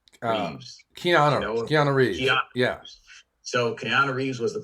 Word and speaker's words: Keanu: at halftime what does i think it was canelo reeves how you say his name um keanu so keanu reeves was the quarterback and he